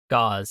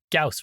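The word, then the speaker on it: Gauss: And I think yeah the proper pronunciation is Gaus rifle, not gauze rifle.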